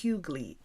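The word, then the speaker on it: hyggelig: g e but then the feeling is hugly h y g g e l i g I know if you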